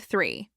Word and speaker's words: three: Say the word three. Now slow it down. The re. Is your tongue coming out just a little between your teeth? Are you blowing air gently?